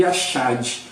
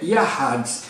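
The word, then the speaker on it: יחד: quer dizer morar, e a segunda palavra que a gente falava Yashad é Yahad, né, esse C aí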